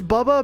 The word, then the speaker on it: Bubba: be nice to me wait is it pronounced BBA or or like like I hear whoops say it like that it's Bubba because I I used